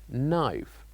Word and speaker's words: knife: knife knife so here the K is silent and we pronounce it as knife knife and finally the last